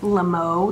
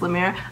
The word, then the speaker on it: Lemieux: live they're known as lamo they say lamo instead of L but the proper French pronunciation is lamir I never legally changed